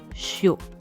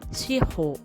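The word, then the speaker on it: shihō: Souvent, on prononce shiro en une seule syllabe, shio. Mais en japonais, c'est deux syllabes, shi et ho, prononcées shiro.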